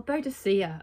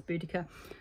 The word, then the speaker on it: Boudicca: um she tells me actually it was Boudicca or bodacia as we were taught growing up apparently now it's pronounce boudica but she was in